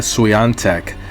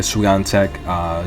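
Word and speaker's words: Świątek: lot of tennis and depending on the announcer they're always guaranteed to pronounce eaga's last name differently so um from from my watching of so many hours of tennis i've come to pronounce your name as ika suyantek that's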